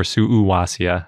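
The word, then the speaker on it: Suuwassea: that described the sorod suaia or suia I think is the correct way to pronounce it because they actually gave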